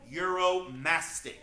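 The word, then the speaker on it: Uromastyx: very odd 70 name this is the Egyptian euromastic that is spelled u-r-o-m-a-s-t-y-x we call him Muro for short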